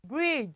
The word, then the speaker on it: bridge: And the next one, this is a long bridge. So we don't usually pronounce the D. We don't usually pronounce the D. It is bridge.